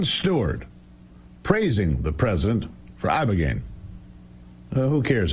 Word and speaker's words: ibogaine: Ibogaine. Body. Body. Body. Ibogaine. Ibogaine. Rogaine with an ibo.